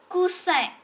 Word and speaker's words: coussin: Alors, cou, le OU, ça forme OU, et AN, ça se forme un. Alors, coussin.